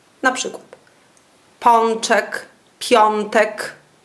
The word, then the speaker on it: pączek: Przed głoskami takimi jak d, t, dz, c, cz. O wymawiamy jak on. Na przykład pączek, piątek.